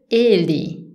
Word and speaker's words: ele: Pour dire il, on va dire ele. Attention, la syllabe forte, c'est les premières E. Ele. Ele, ok? On ne dit pas ele, on dit ele.